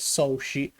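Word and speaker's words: 荘子: who is called Zhuangzi, which in Japanese is pronounced as Soshi. In fact, I had noticed that in the American version, for example, PlayStation 1, there was written Soshi, while in the PSP version there was written Zhuangzi. Simply, they are the same person only one is pronounced in Japanese, that is, Soshi and the other in Chinese, Zhuangzi.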